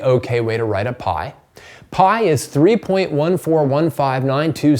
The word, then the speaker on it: pi: the Greek letter pi P I which you just pronounced like pi that you'd eat all right it's this